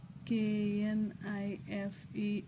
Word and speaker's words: knife: d d y kidy k n i f e knife K silent letter k n o c